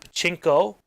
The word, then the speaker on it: pachinko: So you got pachinko, which is this.